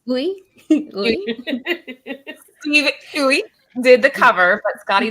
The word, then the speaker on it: Uy: Oui. Sam saying oui. Steve Uy did the cover, but Skottie did all the interiors.